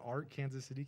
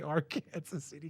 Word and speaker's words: Arkansas City: our grandma lived is a town called Arc Kansas City Kansas MH and it's spelled Arkansas city but don't say that they get mad at you so you got to say Aransas City Kansas and it's like a